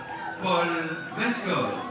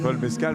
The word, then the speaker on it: Paul Mescal: et son comédien Paul Mescol. Paul Mescol, c'est c'est c'est Paul Mescal peut-être, mais peut-être qu'en américain, il faut le prononcer comme ça pour éviter de penser à du mescal justement.